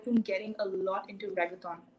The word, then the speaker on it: reggaeton: I've been getting a lot into reggaeton. Reggaeton?